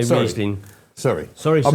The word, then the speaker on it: Riesling: So you say Riesling. Is it Riesling or Riesling? Because German people say to me it's Riesling. It is Riesling. Is it? Okay, so I'll say Riesling.